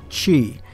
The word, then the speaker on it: Qi: ever got curious about how you pronounce that Qi word it's Qi anyway this is a